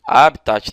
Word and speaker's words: habitat: formam o habitato natural Ok habitat tá ou habitat Eu pronuncio geralmente habitat mas tanto faz né a palavra que admiti dupla prosódia tornam-se elementos decorativos da